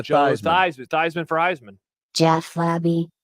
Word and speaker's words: Theismann: Well, maybe when he comes here, we'll change his pronunciation, just like when Joe Teasman changed his pronunciation to Theismann.